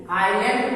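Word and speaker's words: island: जैसे आई एस एल ए एन डी, आइलैंड पढ़ेंगे यहाँ एस साइलेंट है।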